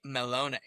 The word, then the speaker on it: Mellone: that's how you get away from the Irish way of saying Malone, because everyone's, oh, it's Malone like the Irish. Nope, Mellone. That's the Italian way of saying Yeah, I